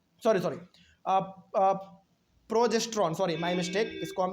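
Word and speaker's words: progesterone: and female sex hormone called oestrogen and प्रो प्रोटोजेन sorry sorry प्रोजेस्ट्रोन sorry my mistake इसको हम उच्चारण नहीं कर पा रहे थे प्रोजेस्ट्रोन तो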